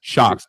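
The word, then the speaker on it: Shokz: How do you spell that? Shocks.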